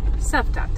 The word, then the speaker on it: Cavtat: Cavtat.